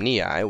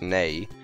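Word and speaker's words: Nei: to say her name we pronounced her name niai when we were kids because we had no idea what her name was properly pronounced as I'm pretty sure it's nay um and that kind of sounds strange after having pronounced it knee I all those years but whatever and niai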